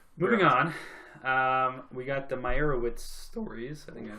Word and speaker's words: Meyerowitz: Moving on, we got the Meyerowitz stories. I think I pronounced that right.